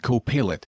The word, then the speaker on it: Copilot: And I said, I know they're pronounced Copilot.